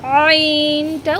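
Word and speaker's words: ع: এই আইন উচ্চারণটা গলার ভেতর থেকে উচ্চারণ হবে, ঠিক মাঝখান থেকে আপনারা একটি আঙ্গুল দিয়ে গলার মাঝখানে সামান্য একটু চাপ দিয়ে এই আইনটা উচ্চারণ করবেন।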